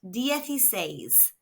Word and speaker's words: dieciséis: It is pronounced dyes.